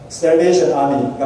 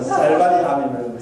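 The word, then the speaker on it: Salvation Army: 지금 여기 보면 구세군 셀베이션 아미가 많죠. 우리 이제 노지사님은 발음이 잘 안 돼서 셀바니 아미는 셀바니가 아니고 셀베이션 아미입니다.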